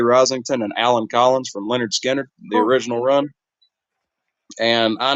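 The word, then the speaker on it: Lynyrd Skynyrd: Allan Collins um you look their first album pronounced Leonard skinnard and you'll immediately see like just with songs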